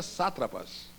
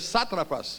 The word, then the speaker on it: sátrapas: em Daniel sátrapas e a pronúncia é sátrapas e ele errou toda vez que leu em vez de de ler satrapas ele ele é satrapas